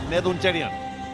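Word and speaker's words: Nedunchezhiyan: Have I pronounced that correctly? Because I know that you know the language, Neduncherian.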